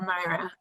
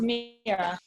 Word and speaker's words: Mira: and you'll forgive me, I don't know if your name is pronounced Mira or Myra. It's Mira.